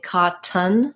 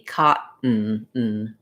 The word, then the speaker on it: cotton: and a syllabic n so again i'm not really saying cotan no puff of air for that t and i'm not saying really that um much of a vowel for that letter o there i'm saying more of uh syllabic in there so it sounds like ca and then you lift your tongue for the t tea cotton uh and then i'll